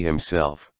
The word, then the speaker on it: himself: The word that is accented on the second syllable is himself.